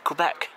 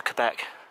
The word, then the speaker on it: Quebec: Got a feeling Wolfe entered Quebec. I got a feeling that might have been 1759 when Wolfe, General Wolfe, went to Quebec, or Quebec, I believe it's pronounced, not Quebec, Quebec, in Canada.